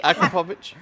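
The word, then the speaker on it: Akrapovič: No, you have to pronounce the whole word. Yes, please. I know. I was really. Akrapovic.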